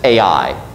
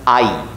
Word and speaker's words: Ai: You know, we always pronounce the city's name as Ai, because, I don't know, you look at that name on the page, and that doesn't really work in English.